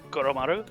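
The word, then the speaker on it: Koromaru: Please pronounce it for me. Koramaru. Kumaru.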